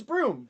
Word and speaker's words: Broome: I I pronounced it wrong. It's Broom. It's Broome. Broom. Like the grass.